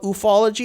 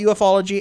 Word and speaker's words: ufology: Half of them call it ufology, and half of them call it ufology, and they both hate each other. They both hate both pronunciations.